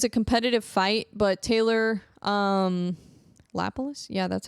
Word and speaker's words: Lapilus: It was a competitive fight, but Taylor, Lapilus? Yeah, that's how you pronounce it.